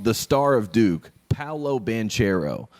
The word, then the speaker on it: Banchero: the star of duke paolo banchero which is the american way to say the name